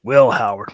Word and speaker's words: Will Howard: I've been saying his name wrong. It's Will Howard.